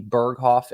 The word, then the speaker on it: Berghoff: can people find you on Facebook at Maggie berghoff and am I pronouncing that right yes you are and yes